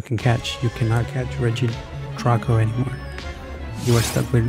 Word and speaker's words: Regidrago: REGIDRAGO.